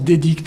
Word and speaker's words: DDigt: On prononce Dédicte, un nom à coucher dehors.